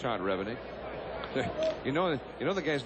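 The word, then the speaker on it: Revenig: It's Todd Revennick.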